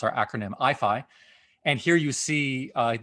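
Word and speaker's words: IAIFI: for artificial intelligence and fundamental interactions so we pronounce our acronym IFI and here you see uh the II logo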